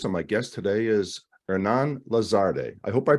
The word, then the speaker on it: Hernán Lazarde: delivery your host and my guest today is Hernan lazarde I hope I pronounced that correct yeah you got it right